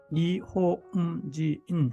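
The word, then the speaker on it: 日本人: 자, 니혼진 삼음절이죠. 그런데 니호응, 지응 하나하나 박은 하나하나 다 인정을 해주면 됩니다. 그래서 니호응지인 해서 니혼진, 니혼지잉처럼 니혼진 이렇게 되는 겁니다.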